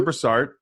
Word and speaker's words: Brassard: brassard and I think that's correct correct pronunciation your name brassard is an empowerment Advocate an intuitive healer